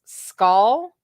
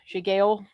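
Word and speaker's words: Sgaeyl: Then the actual pronunciation of what it's supposed to sound like is skull, and it means shadow. So it's skull, not shigale. It's skull.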